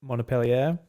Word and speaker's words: Montpellier: And I'm kind of sad in some ways that the Ubisoft what's the how do you pronounce their team's name again? Montpellier. Montpellier.